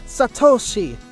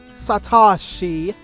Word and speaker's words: Satoshi: how the hell can you mispronounce Ash's Japanese name wrong it's Satoshi not Satoshi get it right hahaha what the hell what